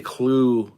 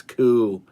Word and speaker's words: Ku: I would say Clue. It's Ku.